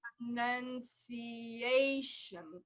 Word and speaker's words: pronunciation: the most stress, and it's always the syllable before the TION, always. So that that last A, Yeah, has the most stress. right. It's a nun because it's a schwa now. Okay. Pronunciation.